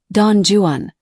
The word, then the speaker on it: Don Juan: However, Byron was an Englishman who purposefully intended his work to be pronounced, no matter how incorrect it is, as Don Juan, with an emphasis on the Jew.